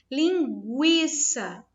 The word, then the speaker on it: linguiça: Linguiça. Ó, linguiça. Existe o som do U.